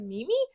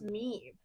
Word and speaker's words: meme: I'm like, "Mimi?" She's like, "No, it's pronounced meme."